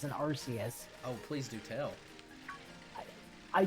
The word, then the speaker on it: Arceus: does Arceus do?